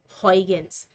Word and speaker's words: Huygens: Dutch uh scientist and some people pronounce it high against but uh I believe the correct pronunciation uh in his language would be hoygens so that's how it's